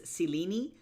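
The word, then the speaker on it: Selene: Well, if we're if we're being accurate for Greek purposes, it's Selini.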